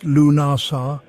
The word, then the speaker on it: Lughnasadh: Lugnasad, pronounced Lunasa, is one of the four great Celtic fire festivals, bridging summer and autumn.